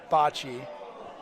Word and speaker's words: bocce: The folks at Italy are taught to pronounce bocce, bocce. Bocce.